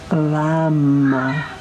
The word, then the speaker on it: lam: om and then the there is a one syllable Sanskrit Mantra that goes with your root chakra and that is lamb with an l oh my cat's doing